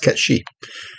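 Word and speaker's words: Cait Sith: a gaelic name oh yeah spell case it's pronounced cat sheep well there you go it's kind of like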